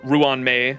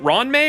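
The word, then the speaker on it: Ruan Mei: to do the r Ruan May is it Ron May or Ruan may I think it's Ruan I've heard most people say Ruan May uh we're going to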